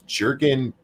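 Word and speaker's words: Jürgen: no the american the the j is pronounced like a y because you know like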